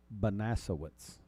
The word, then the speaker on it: Banasowitz: And Miss Martha's last name is correctly pronounced Banasowitz.